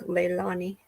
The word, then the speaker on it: Leilani: might be right Macho her name sounds like lay like the lay around your neck Leilani like if you think about the Hawaiian glaze that's how her name's pronounced Leilani oh it's a pretty name